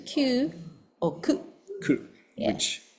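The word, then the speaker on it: 九: So yeah, and 9 too, which is, how do you pronounce 9? Q? Q or ku.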